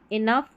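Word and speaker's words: enough: OUGH इसको अफ पढ़ते हैं। तो यहाँ पर जो ज़्यादा स्पेलिंग काम में आती है, जैसे टफ, इनफ, रफ, यहाँ पर ये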